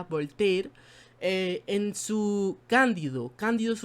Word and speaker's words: Voltaire: Y esto es lo que critica, por ejemplo, Voltaire, creo que así se pronuncia, Voltaire, en su Cándido.